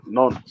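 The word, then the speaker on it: Nantes: n t s French the French pronounce it non like by yeah also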